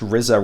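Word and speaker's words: Riza: I think it's pronounced RZA Records, R-I-Z-A.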